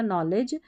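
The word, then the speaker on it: knowledge: नॉलेज के अंदर जो के एन है इसमें के साइलेंट है और लास्ट में जो डी जी ई है इसको साथ में ज पढ़ा जाता है, तो ये बन गया नॉलेज।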